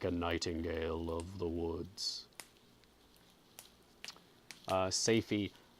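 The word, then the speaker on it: Safie: nightingale of the woods say fee spelt sa fi e it might be pronounced Sophie who mm excuse me there I had to sneeze very sudden s AF I say fee or Sophie I kind of like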